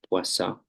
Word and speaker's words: Poisson: Eh, la pronunciación es más interesante, saben, es como francés. Creo que la N no suena, Poisson.